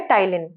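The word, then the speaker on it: ptyalin: का नाम होता है टाइलिन टाइलिन देखिए पी साइलेंट रहता है यहां पे लेकिन स्पेलिंग यह होती है टाइलिन इसका नाम होता है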